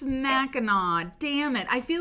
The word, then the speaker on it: Mackinac: at all it is isn't that weird Michigan thing where you you say it like it's not spelled yes it's Mackinaw damn it I feel